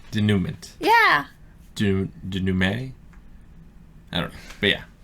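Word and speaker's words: dénouement: to be like a denouncement, Denouncement? What's the French word for resolution? Like the Abajosai was the climax, and now there's it's spelled like denouncement, but it's not pronounced that way, I think.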